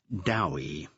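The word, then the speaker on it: Dewi: Dowi, Bill corrected, pronouncing the name to rhyme with Bowie in the approved Welsh manner.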